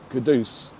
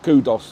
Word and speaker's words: Kudus: Yeah, I definitely think they should know that his name is Kudus. Starboy. Yeah, Starboy, not Kudos or anything like that, because we're